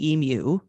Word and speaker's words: Emu: Because he talks about the synthesizer that was used in Emu, as I've learned is the correct pronunciation of the word.